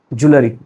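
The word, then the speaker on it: jewellery: The correct pronunciation is ज्वेलरी।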